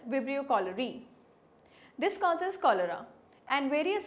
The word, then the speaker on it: Vibrio cholerae: Common among them is Vibrio cholera, and which causes cholera, or you can say the name could be pronounced as Vibrio cholerae.